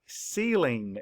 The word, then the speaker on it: ceiling: And I don't hear the A sound, I hear the E sound. And how do we spell that? E-I, that's correct.